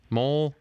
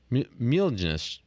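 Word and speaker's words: Mjölnir: How do you pronounce that? Mjolnir. Mjolnir.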